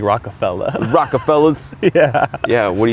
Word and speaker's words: Rockefeller: You gotta say it like Jay-Z's company, like Rockefeller.